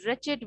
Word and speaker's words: wretched: is an alteration because over here w is silent it will be it will be pronounced as wretched witch you see w is